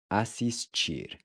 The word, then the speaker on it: assistir: Assistir. Assistir. Assistir. Assistir means to watch. So you'll notice that the TI is pronounced chi.